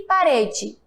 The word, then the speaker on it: parede: Rede e parede. Já sabem esse mistério? Observe que quando eu falo rede, o E tem som de quê? De I. E parede, o E também tem som de I.